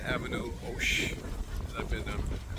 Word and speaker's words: Hoche: We're in front of 9 Avenue Hoche. I've been, don't pronounce the H.